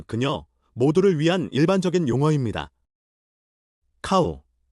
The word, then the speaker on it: เขา: 카우, 소처럼 와 비슷하게 들립니다.